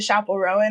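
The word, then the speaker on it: Chappell Roan: so Lilia Leona Ville and ker listening to Chapel Rowan on repeat that's how you say her name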